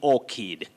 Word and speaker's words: orchid: c and h they represent the sound like a k in that word you say orchid or kid the confused